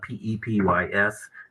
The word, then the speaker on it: Pepys: It's spelled P-E-P-Y-S, but it's called Pepys. I guess that was how you pronounce his name.